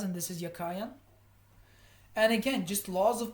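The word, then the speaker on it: Jachin: is BAS and yakan the B and Yin is how I thought they were pronounced but they're actually pronounced baz and yakan and I'll show you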